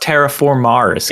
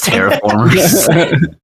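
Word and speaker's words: Terra Formars: just skipped right over pronounced terraformars they're I'm not I'm not trifling with that it's terraformers I just thought the whole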